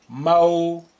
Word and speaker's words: موشور: موشور موشور. Now note how I pronounce the waw with sukun as an ow sound.